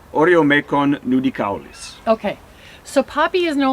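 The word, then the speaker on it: Oreomecon nudicaulis: One says Oreomecon nudicalis.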